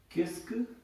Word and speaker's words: qu'est-ce: So basically इसको हम pronounce करेंगे किस्क, किस्क, किस्क से, किस्क से, किस्क से, किस्क से.